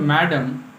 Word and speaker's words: Madame: The chapter is Madame Curie, or we say Madame Curie, because the word Madame is pronunciated Madame in France, and she was from France.